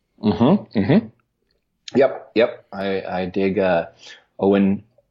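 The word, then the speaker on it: Eoin: yep yep III did Owen I think that's how they pronounce it actually oh and Topher is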